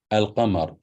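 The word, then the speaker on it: القمر: So if it's followed by lam, you pronounce it as fatha, Hamzatul Maftuha. You say al-kitab, al-qamar, al-rajul.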